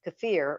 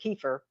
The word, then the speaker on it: kefir: Another one is kefir or kefir, depending on how you like to pronounce it.